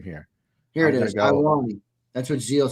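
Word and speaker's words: Ioane: Ione, yeah, I think it's Owani. Because usually the first letter is not is silent. So I believe it's Owani. Well, yeah, Devin will know.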